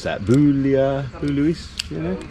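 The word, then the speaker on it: Bouillouses: Boulia, Boulouis, you know? How do you pronounce that? Boulouis.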